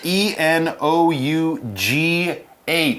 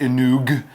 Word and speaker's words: enough: it's got a funny spelling so pay attention e n o u g h not f e n o u g h not e n o u f and it's not pronounced Ino it's enough e n o u g h